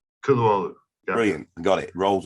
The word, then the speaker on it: Kutluoglu: So the G's silent and silent, Kutluoglu. Kutluoglu.